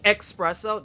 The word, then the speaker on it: espresso: Dreadful also appreciate that you did not pronounce the x that is nothing in the word espresso oh God no you espresso that's not a no espresso espresso cool Auntie's unite I get